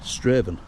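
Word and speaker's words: Strathaven: Straven is pronounced. Straven.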